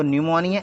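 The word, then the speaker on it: pneumonia: एक बीमारी होती है तो न्यूमोनिया एन से नहीं पी से लिखा जाता है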